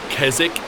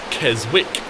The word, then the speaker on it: Keswick: G'day everyone, and welcome to Keswick, England, or as it's spelt, Keswick.